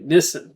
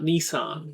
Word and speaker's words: Nissan: They call it, they say Nissen. They say Nissen, not Nissan. Niss.